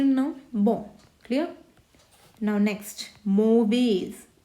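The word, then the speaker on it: mauvais: bone clear now next मोवेज मोवे अब इसमें जो एस है वो साइलेंट होगा मोवे क्लियर है दिस इज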